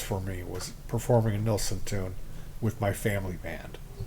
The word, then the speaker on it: Nilsson: I called in because he mispronounces Harry Nelson's name he calls him neelson now Steve met Nelson in Hawaii in Honolulu at this Resort Hotel and nilson was drinking some P